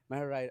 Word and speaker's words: Meher Rai: Today we have our first female cricketer for BCC playing for Patiala Shahi, Miss Meher Rai. Meher Rai, did I pronounce it right? Yes, you did.